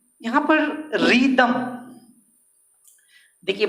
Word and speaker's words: rhythm: का पैटर्न है ये रिदम। इसमें रिदम लिखने का, रिदम इसमें आपको क्यों बताया जा रहा है, यहाँ पर एच साइलेंट है, रिदम, रिदम, रिदम का हिंदी